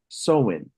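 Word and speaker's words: Samhain: right there and it's the Celtic Festival of saman or pronounced seen and it's celebrated on October 31st the Celtics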